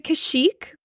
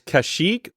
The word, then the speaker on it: Kashyyyk: They are native to Kashyyyk, which I hope I'm pronouncing correctly.